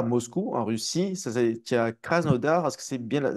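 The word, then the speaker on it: Krasnodar: en Russie ça a cras noodar est-ce que c'est bien est-ce que c'est la bonne prononciation cras noodar oui cras noodar ça veut dire le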